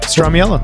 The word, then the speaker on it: Stramiello: And this week we have special guest Josh Stramiello. What's up, dude? What? Did I say it right? Yeah, Stramiello.